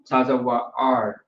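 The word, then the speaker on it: צוואר: So Tazawa'ar is how you would pronounce that, which is neck. That's how the Hebrew looks. What you have is a tazah, a wa, and a ra connected together.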